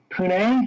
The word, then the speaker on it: Pune: And Virgin actually has some deals going on right now, including one in India to connect Mumbai to Pune, I believe that's how it's pronounced.